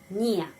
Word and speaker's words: не: Terus ada tidak, не, ya. Kita menulis не, tapi selalu ucapannya ni.